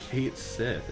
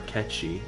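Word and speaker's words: Cait Sith: Noxious Kate Sith, interesting. Or Ketchi, as apparently that's actually pronounced.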